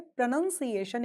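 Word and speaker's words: pronunciation: इसका रीजन है प्रोनंसिएशन एक नाउन है।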